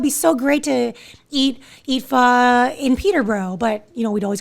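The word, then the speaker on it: phở: butchering it, but like a lot of people call it pho, which, I understand why, it just phonetically, that just sounds like what it is, but it's pronounced pho. And again, might not be right either.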